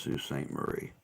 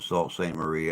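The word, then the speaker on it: Sault Ste. Marie: sleep so we'll see oh it is pronounced Su St Marie okay I've heard some people pronounce it Salt St Marie I've heard some people pronounce it sue St Marie so I just I wasn't sure but all right guys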